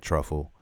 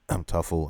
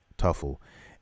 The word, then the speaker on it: Tuffle: And now he goes to the planet Truffle, and Tuffle, I think that's how you pronounce it, Tuffle. Yeah, Tuffle, and goes to confront Baby.